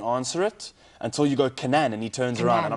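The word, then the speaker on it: Kannan: I have another friend named Kanan. I say like that. Kanan. How do you spell it? K-A-N-N-A-N. I like Canaan. See, Kanan's cool, but from day one, I've always just said Canaan.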